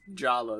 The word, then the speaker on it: Jala: to answer your question you pronounce Jala as Jala the pronunciation doesn't change okay yeah you spelling